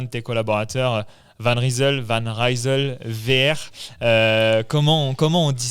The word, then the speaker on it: Van Rysel: Donc si je commence par la prononciation, nous on dit Van Risel. Van euh donc ça c'est à la française, 13 à la française. Euh et en fait Van Rizel c'est la traduction de qui vient de l'île en flamant. OK. L'orthographe est différent. Euh par contre dans la prononciation, c'est Van Rachel. OK. Donc si tu es belge, flamant, tu peux le prononcer comme ça. Et si tu es américain, Van Risel, euh ça marche aussi, quoi.